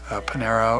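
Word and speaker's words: Pineiro: great spacing they've got panera up what's how do you pronounce his last name Pinero is a heck of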